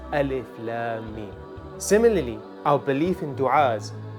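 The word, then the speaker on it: الم: In standard Arabic, the word would actually be pronounced Alam, meaning pain, but a teacher will tell you it should be pronounced Alif Lam Mim.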